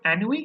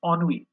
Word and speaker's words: ennui: So we don't pronounce this word ennui, it's ennui.